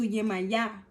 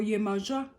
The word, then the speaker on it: Yemaya: You can go to Yemaya or Yemoja or Yemoja, depending. Her pronunciation differs based off of where you are in the world.